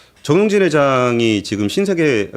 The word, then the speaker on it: 정용진: 근데 저는 이 정용진 회장님이 좀 되게 이 정치적으로 조심하셔야 될 거라는 생각들을 굉장히 많이 하고 죄송한데 발음 좀 조금 정확하게 정용진입니다. 용진으로 좀 부탁드리겠습니다. 아, 정용진 지금 댓글에서도 다 지금 나랑 헷갈리고 있어요.